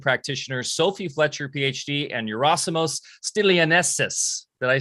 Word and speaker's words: Yerasimos Stilianessis: an extraordinary body-mind practitioner sophie fletcher phd and eurosimos stelianessus did i say it right yeah you did